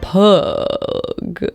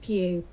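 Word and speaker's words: Pugh: a recipe from Florence pug oh gosh how do you pronounce that's her her surname Florence pew pew so Florence Pew has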